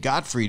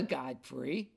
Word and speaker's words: Gottfried: slash gilbert gottfried and gottfried is g-o-t-t-f-r-i-e-d thank you i used to think it was god freed and people used to say my name wrong and god arthur godfrey that which i've been